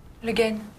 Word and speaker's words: Le Guin: How do you pronounce that? Le Guin.